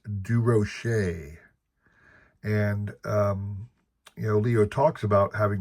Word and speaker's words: Durocher: The correct French pronunciation of DeRocher is Durocher.